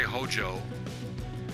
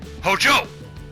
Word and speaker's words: Hojo: That's how you say his name. If you don't say it with an inflection like that, where you have like, yeah, like with a powerful inflection, he would take offense to that.